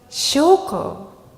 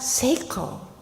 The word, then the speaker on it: Shoko: And I thought, this letter could be pronounced shoko, not seiko. Sho means pure, and ko is fragrance.